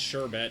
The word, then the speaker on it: sherbet: you don't emphasize it like that but it's sherbet instead of shb cuz down here they spell it differently or up here up here they